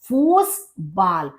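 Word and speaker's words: Fußball: का गेम होता है फुटबॉल को कहते हैं फूस बाल क्योंकि ए का प्रोनंसिएशन अ होता है यू का उ होता है और ये जो बी की तरह लिखा है इसकी साउंड होती है एस तो फूस बाल डेयर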